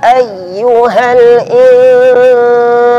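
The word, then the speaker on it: أيها: Ya tasydid yang sebelumnya bukan tanwin atau bukan nun sukun, maka cara membacanya dinaikkan sedikit suaranya. Ayyuha.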